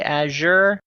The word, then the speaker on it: Azure: I've heard some people say Azure. I always put a little... The French, yeah, that's how they say it.